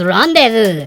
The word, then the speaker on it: rendezvous: all of our words you cannot pronounce Rendezvous even though it is bit like randa's vows we don't need half